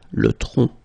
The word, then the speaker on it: tronc: Le tronc, okay, remember, final C is not pronounced here. Le tronc, okay?